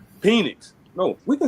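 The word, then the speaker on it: Penix: in it was uh Penn. Did I say it right? Phoenix. Yeah. Yeah. Yeah. You're not the only person in America that's messing that one up right now.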